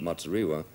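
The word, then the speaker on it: Muzorewa: Now, Bishop Matsuriwa, am I pronouncing his name right?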